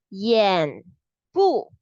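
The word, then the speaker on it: 眼部: 眼部保护. 眼部 itself is the eyes part. Okay, this level. So 保护 is the protection. It will sound like Y-A-A-N, Y-A-H-N, 眼部 peekaboo, 眼部.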